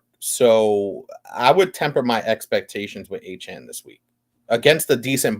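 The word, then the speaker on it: Achane: Zubat said it's Achan, not A-Chain.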